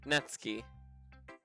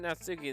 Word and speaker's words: Natsuki: soon by the way i believe natsuki is pronounced not key natsuki natsuki that's suki i'm still going to